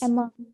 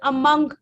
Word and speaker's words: among: Among. Distributed among the students, not among. There's no sound of O in that word.